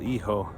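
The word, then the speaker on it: hijo: spell e-ho it's h-i-j-o in spanish the h is silent and the i is pronounced e so iho which means son he's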